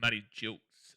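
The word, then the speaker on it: Matty Gilkes: It's pronounced Matty Jilks, by the way, not Gilks.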